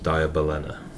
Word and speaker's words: Diabolena: It's like diabolic, but ends in Ena instead.